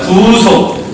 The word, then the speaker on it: 구속: 여기서 구속은요, 발음할 때 잘 하셔야 돼요. 구속하면 이거고요. 구속입니다. 길게 한번 따라해 보시기 바랍니다. 구속.